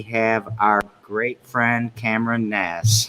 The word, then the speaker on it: Gnass: It's actually, it's Gnass. It's German. It's German, and the A is supposed to sound like the O in pop. So there's supposed to be umlauts, and then the double S is supposed to be that weird B shape.